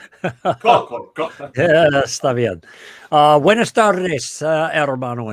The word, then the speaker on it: Koukl: Él me dijo, se pronuncia Koukl. Profesor, ¿cómo se pronuncia? Koukl. Koukl.